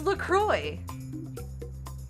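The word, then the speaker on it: LaCroix: Lacroy. It's Lacroy. But despite the French origin.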